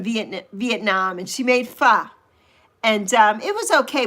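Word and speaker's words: pho: And Saucy says, "Hey, Prima, faux soup is quite good. I do like fur." Not fo, it's fa. That's another thing that's pronounced. It's not fo, it's fa. But there's no a in it.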